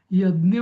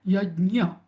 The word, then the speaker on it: यज्ञ: व्हायला पाहिजे मराठीत जस म्हणतात वाय एडी एन वाय तसं पण नाही यज्ञ पण नाही किंवा जसे नॉर्थ इंडियन्स म्हणतात उत्तर भारतातले यज्ञ जीव आहे वाय ए जीव आहे तसं पण नाही खर याच स्पेलिंग आहे स्पेलिंग होऊ शकत नाही पण य अधिक ज पाय लंगडा आणि य च मधला य त्यामुळे यज्ञ असा उच्चार व्हायला पाहिजे त्याचा ठीक आहे आता